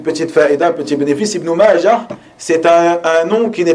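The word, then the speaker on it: ابن ماجه: Ibn Majah s'écrit Ha. Et vous trouverez beaucoup d'erreurs chez certaines personnes qui prononcent Ibn Majata. Ibn Majata. ou qui écrivent simplement Ibn Majah avec ta marbuta. On dit Ibn Majah, tu t'arrêtes dessus, sukun, tout le temps, même si tu continues la lecture.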